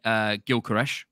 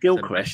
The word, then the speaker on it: Gyökeres: It's not Gyökeres, is it? Gyökeres. No, it's Gyökeres. I thought you pronounced the O.